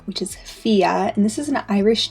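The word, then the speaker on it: Fiadh: But once you know the pronunciation is just Fia and that D and H are silent, I think it's super cute and pretty straightforward.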